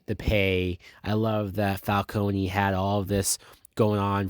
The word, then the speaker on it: Falcone: that selena kyle is the daughter of carmine falcone which i know they pronounce it falcone i still say falcone so